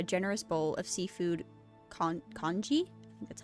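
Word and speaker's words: congee: brings over a generous bowl of seafood con conji that's how you say it oh that's cute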